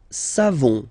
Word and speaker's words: savons: Nous savons, so classic ending for nous, O-N-S, you don't pronounce the final S, nous savons, nous savons, okay?